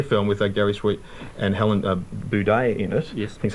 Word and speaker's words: Helen Buday: a roster here film with Gary Sweet and Helen Buday in it.